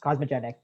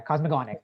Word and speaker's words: cosmogonic: How do you pronounce cosmogenic? Yeah, cosmogonic.